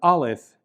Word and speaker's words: Aleph: Now the letter Aleph is actually a silent consonant in the modern Hebrew pronunciation that we are going to use in this course.